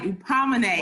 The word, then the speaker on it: Hupomoné: Hupomoné.